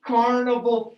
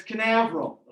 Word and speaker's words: Canaveral: chris read this paragraph in cape carnival florida it's canaveral okay they launch rockets next